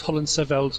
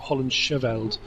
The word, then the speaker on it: Hollandscheveld: message and said the ch in holland seveld is silent so it's holland seville's not holland chevelled um so thank you for that makes thanks